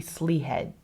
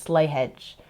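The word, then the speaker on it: Slea Head: slyhead strive which honestly with the way it's pronounced it looks like it should be slee head or slee hey or something like that but it's Irish or Old English so it's slay hedge oh my gosh it was one of the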